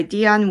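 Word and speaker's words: Dai: So I think when you see it spelled like Day, but it's Di Evan Jones, 83, it loomed rather large.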